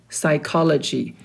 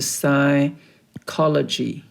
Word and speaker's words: psychology: teure architecture architecture siology psychology pay attention to the letter P letter p is silent so it's a psychology psychology a FY philosophy